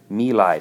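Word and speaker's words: My Lai: about known as the me lai massacre nilay that's how that's pronounced the Vietcong would practice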